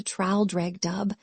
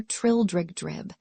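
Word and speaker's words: Traldragdubh: It contained a warrant for conducting me and my retinue to Traldregdub, or Trildrigdrib, for it is pronounced both ways as near as I can remember, by a party of 10 horse.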